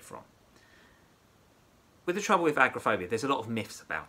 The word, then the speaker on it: agoraphobia: It looks like it's written agoraphobia, but it's agoraphobia. That's how we pronounce it.